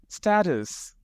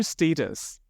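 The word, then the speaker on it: status: स्टेटस, आप भी इसे ऐसे बोलते हैं क्या, या फिर स्टेटस? दोनों ही सही है। स्टेटस या फिर स्टेटस दोनों ही करेक्ट और एक्सेप्टेबल प्रोनाउंसिएशंस हैं।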